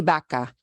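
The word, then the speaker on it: vaca: B B and B baka because the word for cow is Baka with the v-a-c-a sochica here is say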